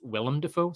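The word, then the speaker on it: Willem Dafoe: is it pronounced William defo or is it pronounced William defo so I guess it's I guess it's Willam defo so thanks very much Solomon Richards for the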